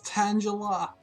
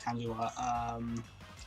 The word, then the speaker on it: Tangela: Do you pronounce it Tangela or Tangela? Because it's, you know, it's tangled up, right?